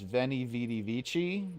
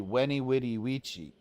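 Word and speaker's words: veni vidi vici: I conquered is actually weny witty witchi. That's how it's pronounced. So, anytime you hear anyone pronounce Latin with a V sound, they're wrong and they're it up.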